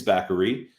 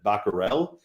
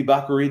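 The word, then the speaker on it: Batgerel: kang versus dana bakari which i think it's bakery i heard a lot of people up name pronunciations this week but i can't talk because when i did this the show was shady earlier this week i said baccarel which apparently is not how you say that name so it is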